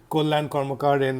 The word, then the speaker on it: Karmakar: am NOT Marechal do my surname is karmakar but it's actually my name is pronounced : Cormac Arden in Bangla but after to Mumbai